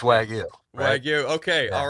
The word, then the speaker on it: wagyu: it incorrectly this whole time I'm pretty sure pronounce it for us please Patrick it's wagu right and uh depending if you're talking to